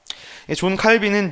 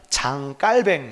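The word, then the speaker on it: Jean Calvin: 이름이 좋은 칼빈 입니다 존 칼빈은 미국식 발음 이고요 본래 칼빈을 본토 발음으로 하면 장 깔 밴 입니다 어이 칼빈이 종교개혁을 그래서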